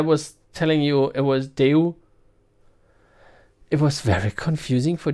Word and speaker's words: Daewoo: it's written Daewoo and so Germans would like pronounce it devil and then the air was telling you it was do it was very confusing for Germans so they